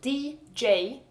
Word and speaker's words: djur: Animal is spelled D-J-U-R. D-J is also just J. Djur.